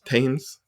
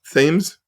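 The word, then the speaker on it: Thames: actually technically below the the how do you pronounce that tames tames themes the themes River uh so they had pumps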